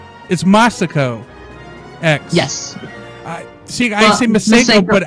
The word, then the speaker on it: MasakoX: criticizing how I pronounce Meo X am I doing it wrong it's it's more maso X maso oh um now I start to wonder it's maso X yes see I Sayo